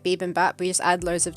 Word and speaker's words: bibimbap: But in that shop, a restaurant, You sound like beep boop. You say it like beep and bap, like this is a word that exists. What it the hell is. is beep It's and bap? Korean, bibimbap.